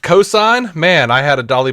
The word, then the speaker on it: Ko'Zeine: It's pronounced cosign.